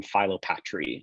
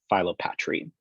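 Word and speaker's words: philopatry: Another term that you're going to hear me toss around is the term Phyllopatry, and that's spelled P-H-I-L-O-P-A-T-R-Y, Phyllopatry.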